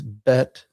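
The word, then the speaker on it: ב: And then the next letter is bet. And this is like the English letter B is in boy.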